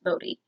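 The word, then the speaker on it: Bode: the youngest is Bodhi I don't know how to pronounce that because of the Netflix trailer be OTE I would have sent both it's pronounced Bodhi is like five or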